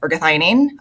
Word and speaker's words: ergothioneine: So, what exactly is ergothioneine? It's called Ergo for short. And to be honest, your pronunciation is great because one of the top